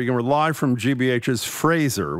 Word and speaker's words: Fraser: We're live from GBH's Fraser. We pronounce it right that time. Not Fraser.